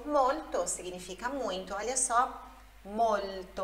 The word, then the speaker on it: molto: Olha só, molto. Olha a pronúncia, molto. Tem esse L antes do T. Você coloca a língua atrás dos seus dentes incisivos e aí vai conseguir pronunciar, ó.